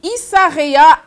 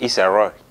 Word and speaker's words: Issa Rae: Quatrième look du jour, Issa Rae en Jason Rombert. Là, tu sais à quoi elle me fait penser? S'il te plaît, on coupe et puis tu reprends. C'est Issa Rae.